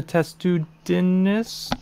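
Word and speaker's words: Testudines: that being annoying right because like what's a test to Dinis that's how you pronounce it it's a turtle it's a matrix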